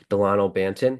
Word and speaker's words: Delano Banton: The leading scorer was Delano Banton, I believe that's how you say his name. Yep, Delano Banton.